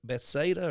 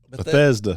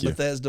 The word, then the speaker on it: Bethesda: that church is be Betha or Beth uh where he pastured at I said it wrong didn't I yeah uh Bethesda Bethesda like Bethesda Maryland yep okay he was